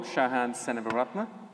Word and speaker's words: Shahan Senavaratna: So you pronounce it pretty well, Shahan Senavaratna. It's quite phonetic, just ridiculously long.